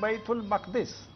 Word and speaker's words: بیت المقدس: مسجد اقصی بیت المقدس زمون خلق وته بیت المقدس وی د دې صحیح تلفظ دی بیت المقدس.